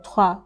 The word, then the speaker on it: trois: Then when you see an OI, it's pronounced usually as wa, like in poisson, fish, or trois.